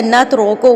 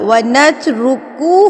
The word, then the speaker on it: نَتْرُكُ: ونترکو یا نخلعو، یہ نخلعو غلط ہے، نترکو غلط ہے، عین پیش او ہوتا ہے، او نہیں ہوتا، ونترکو ہوتا ہے، کو نہیں ہوتا۔ اس کو غلط مت